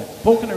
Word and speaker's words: Falconer: Falconer is the correct pronunciation.